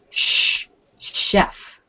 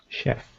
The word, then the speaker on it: chef: crystal a chef yeah normally ch is pronounced cha but in this case ch for this word is chef chef good hey carlos i